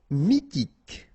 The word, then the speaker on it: mythique: Mythique, remember, Q-U at the end, K, okay, and then Y is pronounced like I, mi, H is not pronounced, T, K, mythique.